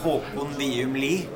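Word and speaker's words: Håkon Wium Lie: I'm having a little trouble pronouncing his name, so I'm just going to let him pronounce it. Well, yeah, it's a very Norwegian name, Håkon Liumli.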